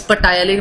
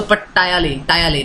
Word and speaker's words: ptyalin: It is ptyalin, but P is silent, so ptyalin only.